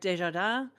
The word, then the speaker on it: Desjardins: Claude Giroux, Mike Richards, Eric Desjardins, which that is also the correct way to say it.